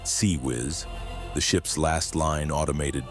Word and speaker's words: CIWS: The close-in weapons system, CIWS pronounced SeaWiz, the ship's last line